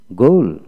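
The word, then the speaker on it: ghoul: তারপর আসেন গুল, গুল, জি এইচ ও ইউ এল, গুল, গুল। তারপর গুলিশ, গুলিশ, এইচ উচ্চারণ হবে না।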